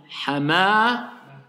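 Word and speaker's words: حمامة: Hamamatun. Donc j'ai compris ici dans Hamamatun. Si je veux m'arrêter et pas prononcer la dernière lettre, je vais dire comment? Hamamah.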